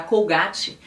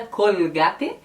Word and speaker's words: Colgate: dental, que é a Colgate, pode ter duas pronúncias no espanhol. Tem gente que vai dizer Colgate, porque essa L, né, bem carregada, Colgate, e tem gente que vai dizer Colgate. Então, depende muito.